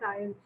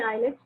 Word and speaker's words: IELTS: Many people pronounce it incorrect. They say IELTS, but actually the pronunciation is IELTS.